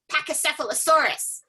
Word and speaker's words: Pachycephalosaurus: I would correct people when they tried to read dinosaur books to me and say, no, it's pronounced this way, Pachycephalosaurus.